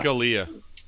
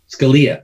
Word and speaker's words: Scalia: how do you say his name again yeah dolia Scalia there it is he was murdered sitting in